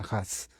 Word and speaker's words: Hus: es A, y claro, en español sería Us, pero se pronuncia Huss.